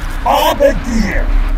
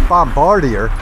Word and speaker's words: Bombardier: silence H I have this is pronounced bombarder I'm pretty sure it's Bombardier dark and is all